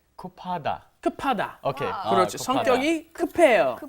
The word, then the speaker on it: 급해요: 성격이 급해요. 아, 급해요. Yeah, remember the pronunciation that B up hits this H and it becomes 급해요.